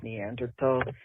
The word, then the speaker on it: Neanderthal: something about the word neanderthal um everyone using it especially the republicans who's pronouncing it wrong you're not supposed to hit the th with a light it's supposed to be a hard t so neanderthal yeah yeah